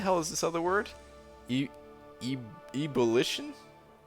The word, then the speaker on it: ebullition: Ebullition? Am I saying that right? We're going to Google on that one. Can we get a pronunciation on ebullition, please? Ebullition. Okay, so I was wrong.